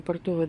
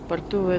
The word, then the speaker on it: Портовая: ним вот у нас портовая 20 я не знаю как правильно бортовая готовая продавая я посмотрела по интернету написано что ударение на второй фокус значит получать спарту